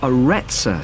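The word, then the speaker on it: Arretsa: got a rather strange name it's called the aretza center that's spelled a double r e t s a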